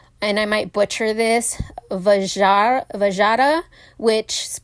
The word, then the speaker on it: Vajra: from the word, and I might butcher this, Vajra, which it's spelled V-A-J-R-A.